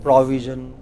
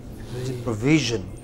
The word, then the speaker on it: provision: frequently next word provision the second syllable provision VI what is it a lot of people said provision they said FRA they took it to the initial syllable and then they say we is not we it is v provision what is the next